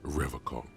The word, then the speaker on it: Revocol: He pronounces Revocol with a hard K, unlike other people. You said Revocol? I like to pronounce it the hard way. The old way. The Vespertine way.